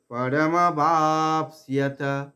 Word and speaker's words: পরমবাপ্স্যথ: শ্রেয়ঃ পরমবাপ্স্যথ, পরম বা দীর্ঘ করে পয়ের আঘাত নেব, পরমবাপ্স্যথ, সিয়াথ তন্ত শয়ে জফলা, সব জফলার উচ্চারণ ই আর অ, ই অ এরকম হওয়ার কথা, পরমবাপ্স্যথ এইরকম।